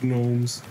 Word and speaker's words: gnomes: been me at the Gnomes nose gnomes whatever the g is silent oh laughs